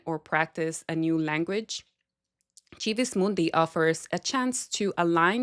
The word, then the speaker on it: Civis Mundi: I use the ecclesiastical pronunciation of Civis Mundi, by the way, um, just in case you're wondering uh, why it's pronounced that way. But, it is Civis Mundi.